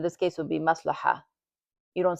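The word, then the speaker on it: مصلحة: So, but when you're reading it, you don't really pronounce the ta. So in this case, it would be maslaha. You don't say maslahata or maslahatun.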